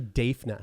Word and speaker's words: Daphna: this name uh dave dafna her name is defna daphna oh i remember i think it's actually defna i remember it's pronounced d-a-e spelled d-a-p-h-n-a when dafna cardinal became